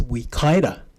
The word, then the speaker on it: Wikaira: And also, for your information, the pronunciation of Ms. Wikaira's name is Ms. Wikaira.